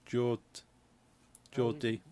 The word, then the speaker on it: Geordie: But if you Google like Geordie accent, spelled like almost like George, but it's Geordie.